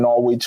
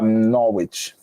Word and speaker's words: Norwich: So you want Norwich. Don't go there and say Norwich.